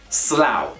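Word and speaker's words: Slough: slow it's a slow it's a place called slow do not be confused with a sloth either way it is pronounced slow probably one of the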